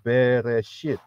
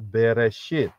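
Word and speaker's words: בראשית: bahasa Inggrisnya adalah in the beginning itu adalah beresit lain kali saya akan ajarkan mengenai kejadian 1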